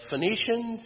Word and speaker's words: Phoenician: completely hilarious that the Phoenicians who invented a phonetic alphabet their name is not spelled phonetically I love that fact there is a silent H and a silent E in Phoenician um but in English